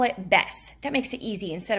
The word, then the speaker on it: Bes: They just call it Bess. So when we get to that B flat, we're going to call it Bess instead of B.